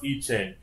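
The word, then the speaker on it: I Ching: capital i space c-h-i-n-g all right and it's pronounced iching and that's a type of witchcraft okay it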